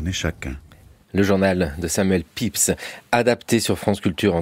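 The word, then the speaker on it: Pepys: Ça s'écrit pépise he si on voulait prononcer à la française.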